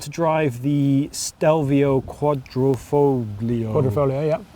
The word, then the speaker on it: Quadrifoglio: Quadrifoglio, yeah. Quadrifoglio. You don't pronounce the G.